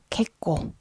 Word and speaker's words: けっこう: 부서 8편 마지막 시간 개 꽁 다뤄 볼게요 자 이거는 발음 하실 때 뒤에 장음 좀 주의해 주시고 캣 코 자음 이기